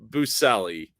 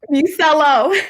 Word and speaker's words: Busello: Everyone, I need you to give super claps in the chat for super Buselli. I said it right? Buselli? Busello. It's almost.